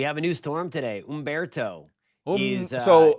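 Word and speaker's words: Humberto: Ombberto. So, it's not So, just so we can all get it clear, it's not Ombberto, it's Ombberto. Is that what you're telling me? It's Ombberto.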